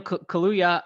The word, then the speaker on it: Kaluuya: out yeah all righty in other news daniel kahlui kaluya is that how you pronounce his name he daniel kahlua all right daniel kaluuya uh has been announced he is going to